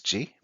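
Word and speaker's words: 時: So the kanji means time or hour, and the pronunciation of it is ji.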